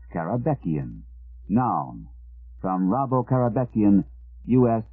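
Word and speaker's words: Karabekian: might actually find its way into dictionary caraban pronounced caraban noun from rabo carabean us 20th Century painter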